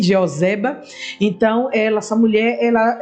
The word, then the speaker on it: Jeoseba: a jeba o Zé o Zé baba a pronúncia e joseba então ela essa mulher ela ela cuidou dessa